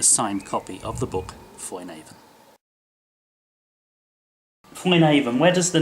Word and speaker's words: Foinavon: Foinavon, I should be saying Foinavon. Well, that's kind of how they say it up there. It's like Foinavon, almost like a B as well.